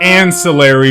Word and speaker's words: ancillary: He came on and he gave the word ancillary. Ancillary. Or ancillary, which is the way that Americans say it.